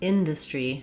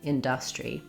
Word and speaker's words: industry: Another short intonation error, rather than industry, first syllable stress, he's saying industry.